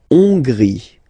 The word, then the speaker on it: Hongrie: La Hongrie. So remember, H doesn't exist, so you don't pronounce it. So it starts with O-N, on, and then gris, final E, not pronounced.